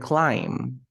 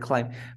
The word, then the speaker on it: climb: this Potter and B you never pronounce the b like limb climb bum you never say bomb